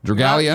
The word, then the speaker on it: Dragalia: Dragalia?